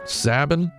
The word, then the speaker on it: Sabin: for his own freedom zhabin pronounced like log cabin sabine sanguine i don't know